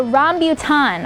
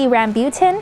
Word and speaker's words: rambutan: indeed never heard of the ROM beaut on or maybe rambutan however you want to pronounce it it's actually a malay word that literally translates to